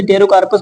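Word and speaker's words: Pterocarpus: है एंड यहां पर टेरोस पी साइलेंट होता है तो इसे टेरोस बोलते हैं तो इसका एग्जांपल लिख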